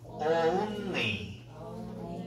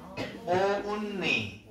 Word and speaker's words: only: Only. Only. 오우. Only. 오우야, 오우. Only. Only. 그냥 only 하지 말라고, 알았어? 원어민 발음은 오우가 강해요.